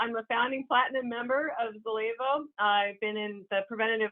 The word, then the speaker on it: Zallevo: you, it took me a little while to pronounce it, but it's Zallevo.